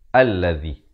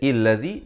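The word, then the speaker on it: الذي: dibacakan dengan dari atas alladzi jangan baca iladi jangan baca ulazi bacanya bukan aneh Kalau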